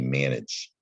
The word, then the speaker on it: manage: And that is a soft G there at the end of manage because of that silent E, manage.